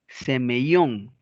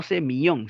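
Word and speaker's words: σημεῖον: Semeyón, no semillón, sino semeellón, que es un signo.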